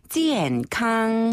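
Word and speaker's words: 健康: 그럼 건강은 뭔가요 건강 건강이라는 표은 자 한어를 그대로 발음을 따와서 중국어로 찌엔 캉 찌엔 캉 찌엔 캉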